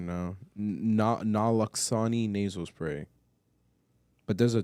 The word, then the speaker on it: naloxone: The nalozone, how do you pronounce that? Naloxone.